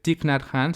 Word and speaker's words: Thich Nhat Hanh: Y bueno, para la práctica informal te recomiendo un libro que se llama Felicidad, Prácticas de Mindfulness de Thich Nhat Hanh. Se escribe THICHNHATNANH.